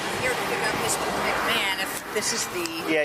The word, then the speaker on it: McMahon: McMohan? McMahon. McMahon, even though it's spelled Yeah, it's McMahon.